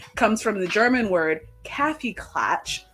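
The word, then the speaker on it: Kaffeeklatsch: without the S comes from the German word caffy clatch spelled with the S so I guess so without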